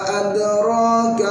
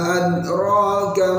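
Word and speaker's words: أَدْرَاكَ: Kemudian untuk ayat yang kelima, wa ma adraka mal hutamah. Nah, di sini yang sering terjadi ialah menghilangkan qalqalah pada huruf dal. Wa ma adraka mal hutamah, nggak boleh, harus ada.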